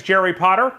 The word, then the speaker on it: Jerry Potter: end of this video my name is jerry potter yes it rhymes with the boy wizard and today i'm showing